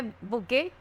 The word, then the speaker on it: bouquet: फिर हमारा fourth number जो है बुके। ठीक है, तो इसको हम लोग बकेट नहीं पढ़ेंगे, ये बुके है।